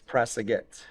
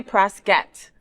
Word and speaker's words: Prasaguet: It's Prasagette. Oh, that sounds so much sexier than what I said. What did I say? Prasette.